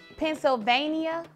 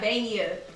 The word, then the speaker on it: Pennsylvania: saying it wrong mhm it's Pennsylvania Europe say Ania Pennsylvania it's not Vania it's Pennsylvania so I'm just over pronouncing the syllables okay saying it the